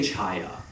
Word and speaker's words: chaya: So, but when it's A, you have to say Chaya.